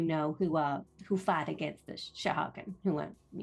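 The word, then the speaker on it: Sahuagin: I'm just checking my own pronunciation on it. Shahagan. I think it's pronounced Shahagan. Shahagan. Sahagan. Yeah. S-A-H-U-A-G-I-N. Sahagan is my guess at it.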